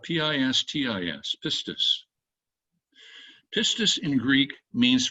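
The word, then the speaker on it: πίστις: The word in Greek is spelled P-I-S-T-I-S, pistis.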